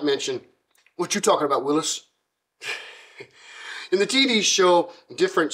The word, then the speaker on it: Willys: His name is Welsh in origin, and though it is spelled with a Y, the man himself pronounced his name Willys, and not Willys as is commonly done in America.